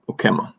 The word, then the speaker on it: Okemah: Okemah is actually how you pronounce it. I looked it up.